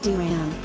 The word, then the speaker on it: DRAM: It is, therefore, called volatile memory or dynamic RAM or DRAM, pronounced DRAM. SRAM is faster than DRAM